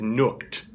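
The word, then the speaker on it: Nujwk: He says it's nuked, like nuked, like get nuked. And so I mean it's going to be interesting on the cast who calls him what, but I believe it's nuked, and that's what I'm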